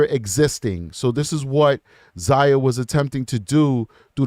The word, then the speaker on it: Xiyya: Zia Jackson pronounced Zia, so it's good that I pronounced it correctly.